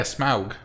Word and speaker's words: Smaug: Smog. Smog, or- yeah. Okay. Smog is I thought it was bad. Smaug. I like I it. think it's Smog. Smaug. It's spelled Smaug? S-M-A-U-G. Yeah, Smaug.